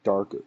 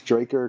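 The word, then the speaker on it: Drakkar: Like Draker or Darker? No, it's Draker.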